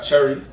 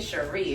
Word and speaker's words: Cherie: Cherry. Hold on. J. Cherie. If you gonna say it right.